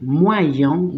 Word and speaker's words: moyen: Acuérdense que la Y es una vocal, ¿sí? Pero una vocal que la voy a leer para adelante y para atrás, ¿sí? Entonces, para yo poder pronunciar, para que este sonido salga leyendo esta palabra, digo moyen, moi, porque leo... Epa, no, pegué. La leo así, moi. Y la leo para el otro lado, yon.